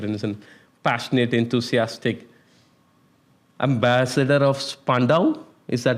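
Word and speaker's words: Spandau: If you want to connect with him, he's there and passionate, enthusiastic ambassador of Spandow. Is that how you pronounce it?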